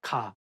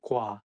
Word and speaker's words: 과: So it's not 가. It should be 과, 과.